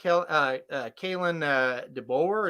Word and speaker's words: Kalen DeBoer: I don't know much about Kalen DeBoer, is how you say his name at Washington.